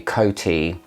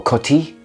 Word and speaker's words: Coty: is a dupe of Tribe by Coty, or Coty, shall we say? Let's try and pronounce things properly today, Tom.